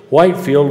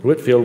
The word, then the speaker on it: Whitefield: preaching and undiluted gospel whitefield was or whitefield i'm sorry i'm saying it wrong whitfield was an imminently useful